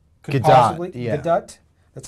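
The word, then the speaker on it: Gadot: chips on him the Flash Wonder Woman G gadut could possibly gut that's how she pronounces it uh and uh well wait tell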